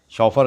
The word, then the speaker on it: chauffeur: The chauffeur का मतलब गाड़ी चलाने वाला, ड्राइवर, शॉफर कहते हैं प्यारे बच्चों।